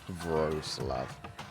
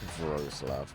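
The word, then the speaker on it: Wrocław: Rogclaw is pronounced like Wroclaw. What? Just in case you didn't know. Gross love. Gross love.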